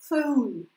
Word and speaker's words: phone: Я хочу слышать эту «у» в конце вашего звука, да, когда вы его произносите. «Home», «roll», «phone».